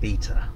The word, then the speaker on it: beta: __ ] beta well technically it's pronounced betta anyway yeah patience everybody